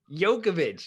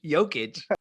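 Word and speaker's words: Jokić: I honestly, the Jokovic is like every Jokovic. You're adding syllables. Jokovic. Adding. Jokic.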